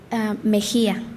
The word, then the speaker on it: Mejía: Okay, last name Mejia, Mesia? Apellido Mejia. Mejía. Mejia. Mejia. Can you spell that for me?